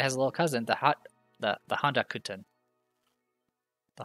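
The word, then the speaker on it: ホ: symbol there you go this is ho or ho when it says ho like in the word hotel show count 4.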